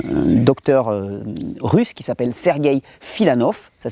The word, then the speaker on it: Filanov: Il y a quelqu'un qui a beaucoup travaillé sur le jeûne, c'est un docteur russe qui s'appelle Sergueï Filanov, ça s'écrit F-I-L-A-N-O-V, mais ne courez pas sur Internet, vous allez trouver très peu de littérature.